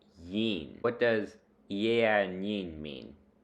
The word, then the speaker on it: yin: The word for good or well is yin, pronounced yin.